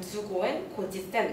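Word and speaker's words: 十五円五十銭: 15엔 50전인 건데 이제 일본어로 하면 주고엔 고지센 이렇게 발음이 돼야 되는데 이제 이 주라는 게 즈도 아니고 주도 아니고 일본어 특유의 즈라는 게 있어야 되는데 그걸 조선인들이 발음을 제대로 못했겠죠.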